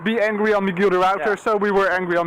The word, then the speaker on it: Michiel de Ruyter: Michiel de Ruyter. Okay, hold on. So I've been pronouncing it wrong. Michiel de... Of Michiel de Ruyter. Yeah. Ruyter. Okay. Michiel de Ruyter.